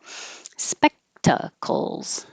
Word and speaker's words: spectacles: that entertaining spectacles spectacles you hold the k spec instead of specta spectacles spectacles and that's similar sounding